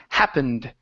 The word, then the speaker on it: happened: of happened okay uh this is an ed ending it sounds like a d the word is happened happened happened good happened